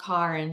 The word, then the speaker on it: Karen: YouTube I think as my name is actually pronounced Karin because it's like South African sorry no no no